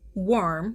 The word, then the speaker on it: wyrm: So, what is a worm? Pronounced worm. W RM or if you want to try to get real fancy go.